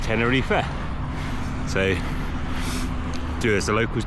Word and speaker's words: Tenerife: I'm pronouncing it tenifa a lot of English people or in first language English speaking people Willa call it tenner Reef but the locals call it tenner reefa so do as a